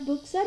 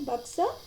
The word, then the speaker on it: Buxar: It's not Buxar. You have to pronounce as Buxar.